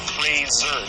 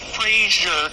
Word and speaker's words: Fraser: That's Fraser, not Frasier. If you say Frasier, I know where you live.